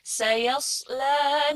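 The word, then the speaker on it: سَيَصْلَىٰ: Bacanya tuh bukan sin tapi sod. Sayasla naron dzata lahab.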